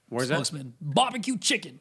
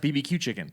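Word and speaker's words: bb.q Chicken: get charles barkley to be as i guess barbecue chicken barbecue it's pronounced bbq chicken oh not barbecued so everyone says barbecue chicken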